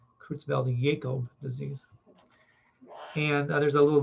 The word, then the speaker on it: Creutzfeldt-Jakob: Another type of prion disease is listed here that affects humans, the CJD, Creutzfeldt-Jakob disease, it's called. This J is pronounced with a Y, Creutzfeldt-Jakob disease.